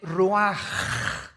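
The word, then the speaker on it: רוּחַ: El ruaj que se escribe r u a c h.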